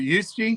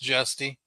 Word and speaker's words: Justy: So Devin fished with, is it Yusti? Is that how you say it? From South Africa, and he was here for 2 months. That's Justy.